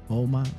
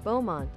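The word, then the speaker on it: Beaumont: down from bont right that's how she said to pronounce it Bowmont Bowmont yeah she said Bowmont bman bont Tess bman okay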